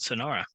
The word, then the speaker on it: Sonora: the pronunciation of Sonora it's not Sonora it's Sonora just so you know there there we go he's not Mexican he's not Sonora it's he's Argentine Sonora anyways um also I